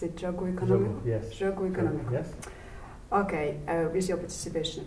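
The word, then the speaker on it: Jogo Económico: Well, anyway, I watched the episode of, correct my pronunciation, Jogo, is it Jogo Economico? Jogo, yes. Jogo Economico.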